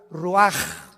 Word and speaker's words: Ruach: Y exhaló Isaac el Roach. Así como suena, se pronuncia la CH en hebreo como J, Ruach.